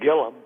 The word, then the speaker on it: Gilliam: uh as to uh gilliam gillum is pronounced uh was going to